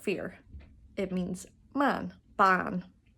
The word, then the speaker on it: bean: Ban, not bean.